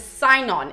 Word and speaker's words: Sinon: greek captive says that his name is sainon it is spelt like this i'm not sure if it's cenon in the greek or if it said cynon i have always said sign on though so we are